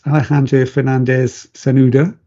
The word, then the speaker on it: Alejandro Fernández-Cernuda: I've got an excellent guest with us today from the Global Cyber Alliance, Alejandro Fernández-Cernuda, pronounced correctly.